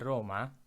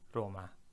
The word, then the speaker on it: Roma: And also remember, in English we tend to do what's called a schwa, which means the last syllable of a word we just kind of, right? We say Roma, that sound doesn't exist in Italian. Cut it out. It's always a. Roma, Roma, Roma, not Roma, right?